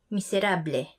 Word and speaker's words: miserable: Our next one is miserable, meaning miserable. So it's actually spelled the same way as miserable, but again, we say it as how it is spelled out.